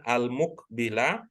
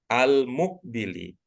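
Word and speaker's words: المقبل: Tapi Ibu bacanya mukbili, bukan al-muk ya, bukan al-mukbila, tetapi al-mukbili.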